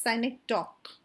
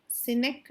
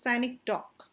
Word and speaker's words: synecdoche: It's pronounced as synecdoche. It is not cynic, it is synecdoche.